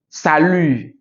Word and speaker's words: salut: Salut. Okay, so I didn't say salute. Okay, it's salut.